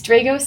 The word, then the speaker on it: Dragos: I've heard it yeah I think I've been pronouncing it wrong for a while a lot of people do it's a it's dros the name actually came from the never winner